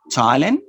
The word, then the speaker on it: Thailand: ta idi stopped washed ta is a spell th in a few names for example you have thailand james thomas and th thailand thames thomas generally this is spelling